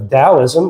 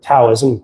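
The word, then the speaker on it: Taoism: the religion eastern tradition of dowoism or taloism pronounce it both ways uh uh it there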